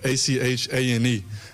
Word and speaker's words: Etienne: So growing up, it's Travis Etienne, so it'd be like Achane.